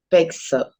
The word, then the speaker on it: pezzo: Y es porque la pizza normalmente se pronuncia y toda la doble Z como algo así. Fíjense como yo se los escribí. Sí. Pizza. Lo mismo pasa con pazzo, que significa loco, o pezzo, que significa trozo o pedazo o porción.